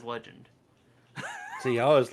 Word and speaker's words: Legende: crazy thing is like it's a legend backpack and the legend is spelt a little different it's got like that little accent a mark on it but they say it is legend see i was like